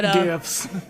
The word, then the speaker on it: GIF: It is pronounced GIF.